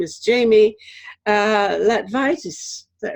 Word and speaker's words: Latvaitis: And his assistant or intern for the summer or something, whose name is Jamie Latvaitis.